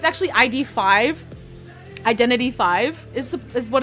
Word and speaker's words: Identity V: like identity 5 um if somebody calls it identity 5 I don't trust them even though that's how it's supposed to be pronounced but identity V is basically um dead